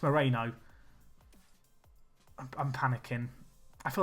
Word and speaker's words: Moreno: even say his name I was about to call Romano it's Moreno I'm panicking I feel